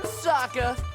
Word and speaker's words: Sokka: That's right, I'm Sokka. It's pronounced with an aka.